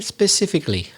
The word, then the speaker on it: specifically: about you said ah specifically a very typical thing of spanish speakers there's no letter e at the beginning so begin the first